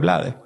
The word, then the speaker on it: Blades: Hay un cantante y actor panameño que se llama Rubén Blades. Y en América Latina, pues, pronuncian el apellido en español, Rubén Blades.